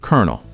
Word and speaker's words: colonel: Because English borrowed this word from French and Italian, and the pronunciation stayed, but the spelling didn't. Say it with me. Kernel.